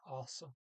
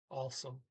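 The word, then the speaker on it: også: doesn't it i mean it sounds off sounds more like also because you don't pronounce that g also also and we'll call that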